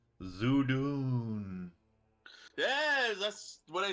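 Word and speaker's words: Zhudun: was a weird a weird ominous voice says zoodoon yes that's what i said zoo dune yes you do how do you spell that zeus did the weirdo z-h-u-d-u-n yeah so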